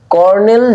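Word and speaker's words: colonel: কি উত্তরটা লিখি তাহলে তাহলে উত্তরটা কি কর্নেল বানানটা কি কলোনেল কর্নেল জন জে ও এইচ এন জন হান্ট তারপরে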